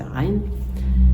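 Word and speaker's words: عين: On va revenir sur cette lettre, Ra, le Ain, son nom c'est Ain. Et pour la prononcer, il faut serrer la gorge.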